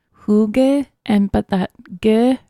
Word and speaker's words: hygge: meant so it's a Danish word and it's hy g GE yes but it's pronounced who gave and but that good sound is kind of